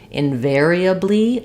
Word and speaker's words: invariably: Then you also asked about invariably. I have a video for that on the channel, but think about it syllable by syllable. Invariably, with the stress on the ver syllable.